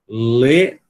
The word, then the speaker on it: little: Little, little, little. Se você quiser o R, né? Eu acredito que a maioria de vocês gosta de pronunciar assim.